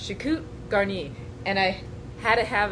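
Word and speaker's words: choucroute garnie: like dressed with cabbage or sauerkraut but it's pronounced chiku garni and I had it have him say it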